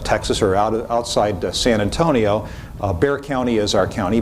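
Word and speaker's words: Bexar: or outside San Antonio bear County is our County bekata it would be the proper pronunciation in Spanish but we tend to slide over that you can see here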